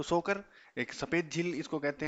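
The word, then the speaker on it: Tso Kar: ये इतना ध्यान रखना है कि जो सोकर है। अच्छा इसके अंदर टी साइलेंट रहता है। है ना? तसो आपको ध्यान रहे कि रहे कि ऐसा लिखा हुआ है जहां पे त आधा लिखा हुआ है मतलब वहां पे टी साइलेंट है तो यह सोकर झील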